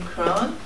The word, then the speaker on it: Kron: says like ice cream crone. Is it like it rhymes with cone? Ice cream cone?